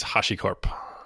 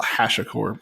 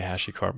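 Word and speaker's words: HashiCorp: of your company please it's Hashi Corp see I always call Hash A Corp because I'm yeah I think a lot of people say hashy Corp I think I yeah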